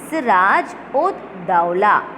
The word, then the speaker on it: Siraj ud Dawla: So we have to pronounce this name as Siraj ud Dawla. Okay. Siraj. You have to give a small hyphen. Ud, ud. Okay. Then small hyphen. Daula. Dawla. Siraj ud Dawla held 146 British